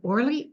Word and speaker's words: Orly: to introduce I guess or did I pronounce that right orle yes you did okay and I'm going to